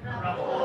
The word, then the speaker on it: rapport: Rapport. Again? Rapport. Once again? Rapport. One more. Okay, negosyante tayo, medyo high-end yung produkto natin, malalaki yung income, dapat tama yung pagkaka-pronounce, okay? It's rapport, ha?